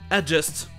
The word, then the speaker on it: adjust: Et quand il y a un vrai D devant le J, on ne va pas prononcer 2 fois le son de. Ça sera simplement le son J, comme dans adjust.